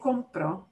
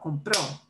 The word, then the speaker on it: compró: Not just that you get, but you don't say compro, I'm buying right now, but compró. Mm. It's really important to punch that O at the end, so that people know you mean, oh, he did it.